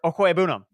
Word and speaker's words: Okwuegbunam: for the Philadelphia Eagles, which that's how you pronounce it, John. Double check me on that. Albert Okwuegbunam.